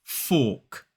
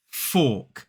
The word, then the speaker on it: fork: Now, notice that we don't pronounce the R in this word in a modern British RP accent. It is fork. Fork.